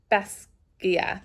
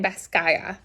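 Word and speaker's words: Basgiath: me laugh um and I've also learned that I might be saying Bas like the academy name wrong in my head it was Basia but people are saying B skyth now I'm lost any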